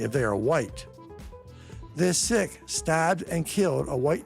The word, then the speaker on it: Sikh: Just recently, I saw a story about a sick or as the British tend to pronounce it, Sik who are from India.